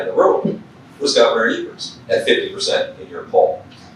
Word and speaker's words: Evers: We had President Biden in the state, and he was in Superior, Wisconsin with Senator Baldwin and Governor Evers, or Evers, as he likes to pronounce it.